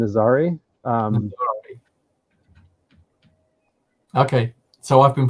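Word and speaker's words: Nazaré: cousin is there yeah it's Portuguese I think the the so that the city is is named Nazari okay so I've been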